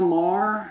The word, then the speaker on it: Maher: How do you pronounce his name? His surname. Bill Maher.